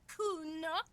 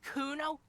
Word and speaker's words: Kuno: me to Nick it kuna no I didn't it's Kuno say it right say it like it's said Kuno that's an orines name